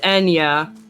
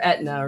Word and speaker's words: Ithne: Ithne. Oh, can't look at that box. Technically pronounced Enya. Or Etna, really.